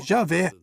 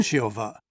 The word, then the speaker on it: Jeová: exata do nome original alguns eruditos acham que a pronúncia original era algo como Jé e não Jeová já outros acham que talvez tenha sido yova mas até que ponto